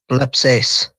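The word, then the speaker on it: βλέψεις: And so, when you say this, how do you say it? Well, in its current form? Yes. blepseis Right. So, that it it doesn't sound like blepo. Right? It doesn't sound like blep. You hear bleps.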